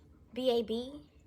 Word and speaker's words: baobab: I'm gonna spell it for y'all. It's BAOBAB seed oil, baobab, yeah, that, with baobab seed oil and shea butter.